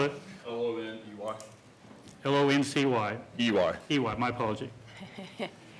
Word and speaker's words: Loney: Loney. I'm sorry? Okay. Could you spell it? L-O-N-E-Y.